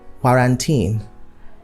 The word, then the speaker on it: quarantine: So quarantine should be correctly pronounced as quarantine. You can also alternatively pronounce it as quarantine, but the stress shouldn't be on tine or teen. So it's not quarantine and it's not quarantine. So you just say quarantine or quarantine. Okay?